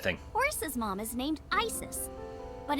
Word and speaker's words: Isis: The ASET thing. horse's mom is named Isis, but in ancient Egyptian, it's pronounced closer to Iset or Aset.